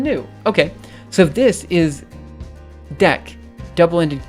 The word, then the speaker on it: deque: Okay, so this is dec, double-ended Q. Okay, but this is pronounced DQ.